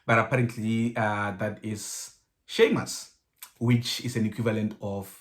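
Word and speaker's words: Séamus: you as well but apparently uh that is sheamus which is an equivalent of james apparently in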